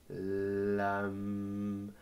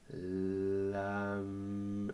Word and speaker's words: Lam: veut dire Lam donc on va juste dire Lam Lam et voyez vous pouvez